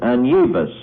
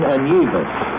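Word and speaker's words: Anievas: His name is Augustin Anyevas. Augustin Anyevas.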